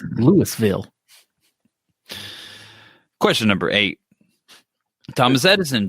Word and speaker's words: Louisville: Expos decision in Louisville it's pronounced day budded and it's Louisville question number eight Thomas